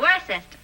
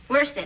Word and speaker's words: Worcester: Yeah, the Earl of Worcester.